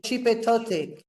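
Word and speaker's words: Xipe Totec: Yeah, how do you spell it? X-I-P-E space T-O-T-E C. XIP or D? Chipetotic.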